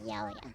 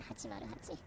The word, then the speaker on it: 808: So it's really cool to me that in Japanese the character name 808 or 808 is pronounced yaoya, not 808.